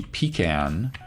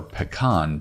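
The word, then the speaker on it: pecan: seeds Pi variety whose pronunciation inspires debate that would be pan or pean pie which is delicious either way you pronounce it kind of chip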